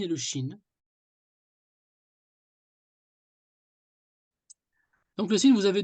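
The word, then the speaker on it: شين: marqué par trois points Chine Chine un peu comme la Chine quoi Chine nous allons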